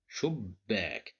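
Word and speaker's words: شباك: As you see here, we have the letter ba. It consists of two bas. The first one is controlled by sukun. That's why we pronounce it as shub, shub. And then we need another letter which is ba with fatha. So we pronounce it like shubbak.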